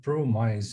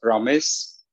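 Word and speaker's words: ProMyc: like that well actually the way i'd like to pronounce it is promise and that would be as in a better nutritional promise and promise broken down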